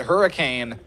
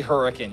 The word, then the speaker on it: Hurricane: If they pronounce it Hurricane, they're not from here. Strictly Hurricane.